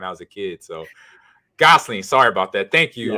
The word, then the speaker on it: Gosling: Ryan Gosling okay because I hate saying people's name wrong because people destroyed my name when I was a kid so Gosling sorry about that thank you uh BR and